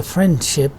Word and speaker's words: friendship: When you don't pronounce d and you say friendship while speaking little quickly, this leaving out d sound again will be called elision, friendship.